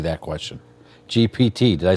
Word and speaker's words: GPT: Ask Google or your Chat GTP that question. GPT.